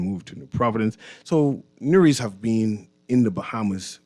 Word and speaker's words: Newry: And once again, this is Nuri. And I shall be your host for the day. Just making sure Nuri is pronounced new and re. It ain't that hard. You blend the words together.